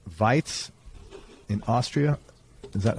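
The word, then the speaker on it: Weiz: and let's see if i get this correct vites in austria is that how you pronounce it that's how you pronounce it yeah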